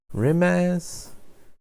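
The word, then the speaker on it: Rimac: dang it fun fact the rimek is pronounced rim ass as the founder is carnation hmm i i i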